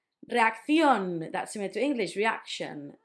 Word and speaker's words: reacción: Reacción, that's similar to English, reaction. You had the accent at the end.